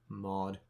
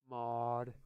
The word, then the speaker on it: Maud: Doctor, you said it wrong. It's Maud. Maud.